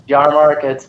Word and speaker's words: Yahrmarkt: name my last name is terribly hard to pronounce and spell but it's jar markets my Instagram is just r y a h